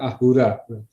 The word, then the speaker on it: Ahura: Ya, orang Persia tidak bisa bilang S, ya, sehingga Asura diucapkan Ahura.